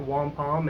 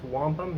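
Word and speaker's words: Wampum: and cities and towns you just uh you mispronounce until somebody laughs at you. So, it's not Wampom, it's Wampom.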